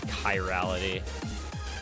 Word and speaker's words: chirality: working um but yeah we decided that it was high reality like Cobra Kai you watched Breaking